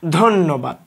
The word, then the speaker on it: ধন্যবাদ: উচ্চারণের সময় আমরা এইভাবে বলি ধন্যবাদ।